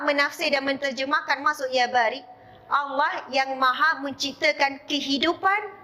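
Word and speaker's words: بارئ: Saya selalu sebut dengan sebutan yang tepat, Ya Bari, iaitu Hamzah. Ya, Hamzah, bukan Kaf. Bahkan dalam banyak ceramah dan kuliah, saya betulkan. Saya kata ejaan Kaf tu, Ya Barik, itu salah. Yang betul adalah Ya Bariun.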